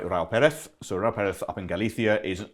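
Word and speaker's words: Raúl Pérez: So Ra Perth up in Galithia is an iconic wine maker. He is that's excellent pronunciation by the way.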